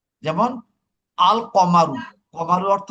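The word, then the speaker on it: القَمَرُ: কিন্তু কিন্তু যদি এটা কমারি হয় তখন কিন্তু তার লামের উচ্চারণ হবে। যেমন আল কমারু, কমারু অর্থ কি?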